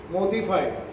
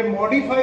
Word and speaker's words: Modiphy: यांचा काही संबंध नाही मोदीफाय बरेच जण मोदीफाय म्हणतात याला हे मॉडिफाय हे औषध काय आहे याच स्पेलिंग